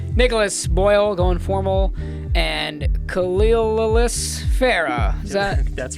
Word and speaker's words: Khalil: I'm here today with my co-hosts, Nicholas Boyle, going formal, and Khalil Farah. Is that? That's right. That's how you pronounce it. That's it, Khalil?